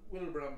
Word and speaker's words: Wilbraham: Well, it's spelled Wilbraham, but it's pronounced Wilbraham.